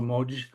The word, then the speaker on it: Moj: competition with the likes of WeChat, Douyin, Weibo, Moj, that's the right way to say it.